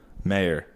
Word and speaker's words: Maher: How do you say his last name? Mah, maybe. Bill Maher. Ben Mah. Mah. M A H E R. Mayor. May. It's Mar.